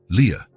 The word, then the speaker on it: Lia: This is your name," he explained, pointing at each letter as he pronounced them. "Lia. Leah."